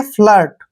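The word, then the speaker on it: flirt: है यहां पर लगाएंगे फ्लर्ट फलेट नहीं पढ़ना है फ्लर्ट फ्लर्ट पढ़ना है फ्लर्ट होता है झूठा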